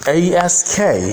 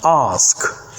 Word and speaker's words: ask: For example, the word ASK is pronounced ask in British English, but ask in American English.